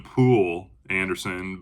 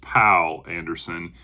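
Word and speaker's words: Poul Anderson: I've been calling him Pool Anderson, but I believe it's pronounced Pal Anderson.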